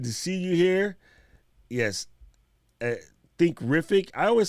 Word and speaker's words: Thinkific: So where I'm from Essex, which is like southeast of England, and we drop the THs. The way I pronounce them like a T, like a hard F.